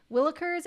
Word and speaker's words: willikers: thank you oh Willers oh it is a k I've been saying it wrong this whole time see this is what you get for living in the South willikers and its variant willins